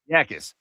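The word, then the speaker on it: Jacas: Yakis.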